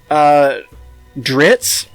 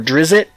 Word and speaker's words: Drizzt: Because Dritz, or Drizzt, however you want to pronounce it, he's a very well-known character in Faerun, and he's a dark elf who's a good guy.